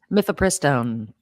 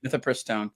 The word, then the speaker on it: mifepristone: Mifepristone. Mifepristone.